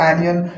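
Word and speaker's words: onion: बच्चों एक्चुअली इसको बोलेंगे ओ एन आई ओ एन इसका स्पेलिंग होता है बट इसको बोलते हैं तो पास डी अनियन पैसल डी जिंजर जो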